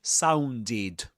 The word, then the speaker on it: sounded: So we pronounce this as sounded.